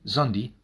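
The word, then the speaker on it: Szondi: The great literary critic and theater historian Peter Zandi, Sz O N Di, Zundi, I think that's how it's pronounced.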